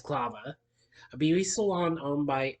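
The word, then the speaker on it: Esclava: Christian takes that to escalavia clava excuse me mispronounce it it's clava a beauty salon owned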